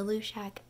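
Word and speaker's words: Luidaeg: It's, like, L-U-I-D-A-E-G, but in the pronunciation guide at the beginning of all the books, it's pronounced Lushak, so that's what we're going with. The Lushak asks Toby, hey, can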